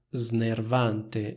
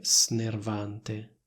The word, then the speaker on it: snervante: cosa è davvero snervante come vedete ho detto snervante Anche perché non riesco a pronunciare snervante o meglio tecnicamente riesco anche a pronunciarlo però è chiaramente più scorrevole dire snervante Cosa vuol dire questa